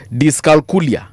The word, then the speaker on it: dyscalculia: Now, can we just mention, because we have about 7 minutes, hii utanisaidia kupronounce dyscalculia.